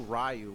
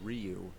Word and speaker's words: Ryu: We didn't know Rayu was actually Ryu Blanca.